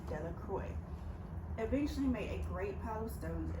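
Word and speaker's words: Delacroix: Bobby and Harry Jones and Dicky Little Deoy, the villagers pronounced this name Deloy, eventually made a great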